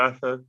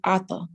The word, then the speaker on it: Atha: So with the A, why would it not be Arthur? How would I know to pronounce that Arthur? Because I thought. Okay, so what's the best way to say this? You can say it like that, and it would still be correct. But people just are different. So when I learned, that's just the tone that we all use, Atha.